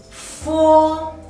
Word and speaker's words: fo: Fo, fo. Fo is a labiodental and fricative initial.